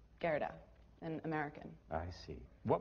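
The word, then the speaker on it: Gerda: you spell that g-e-r-d-a it's not grota it's just gyarada and american i see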